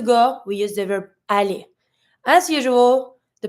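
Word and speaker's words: aller: going to see that every verb that finish with e r is going to be pronounced the same way the e r is going to be the a sound so to go we're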